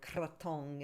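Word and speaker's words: krathong: we'll see, and I'll be there for Loy Katone too, so I'll be able to. Yeah. That's my So favorite Thai holiday. Katone. Oh, mine too. So Loy Katone, we float the what's called a katone or kratong is how it's spelled.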